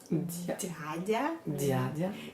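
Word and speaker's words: дядя: Dядя. Dядя avec un D bien gras, dядя. Donc on prononce en fait un D mou et ensuite un A. Même si on écrit des ya, on prononce dядя.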